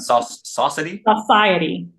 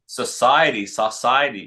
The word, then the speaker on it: Saucity: And how do you pronounce that? Saucity? Society. Yes, I would never have got that.